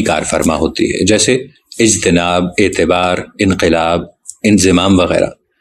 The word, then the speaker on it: اجتناب: فرما ہوتی ہے، جیسے اجتناب، اعتبار، انقلاب، انضمام وغیرہ۔ بعض لوگ ان کو اجتناب، اعتبار، انقلاب اور انضمام پڑھتے ہیں۔ یہ تلفظ غلط ہے کیونکہ اجتناب اور اعتبار افتعال کے وزن پہ ہیں۔ باب افتعال مستقل عربی